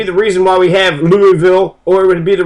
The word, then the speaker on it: Louisville: in Madrid and then Louisville they'll say it's Louisville it's oh that's Lille it's named after King Louis so it' be Louisville or Louisville but they say n it's laville and then Versa it's verses